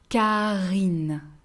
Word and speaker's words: Karine: Name starting with K, Karine, Karine, Karine.